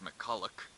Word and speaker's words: McCulloch: Alrighty, so as it turns out, it's pronounced McCulloch, and there's two L's, and basically everything I got after the two C's was just completely wrong.